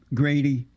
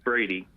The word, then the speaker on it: Brady: How do you feel about black conservative, Grady? It's Brady. Brady, yeah, Brady. Oh, they have a G here for some reason. It's Brady, not.